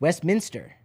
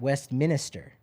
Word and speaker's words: Westminster: it's right here it's Westminster not Westminster it's not Minister oh no Minster oh wow a lot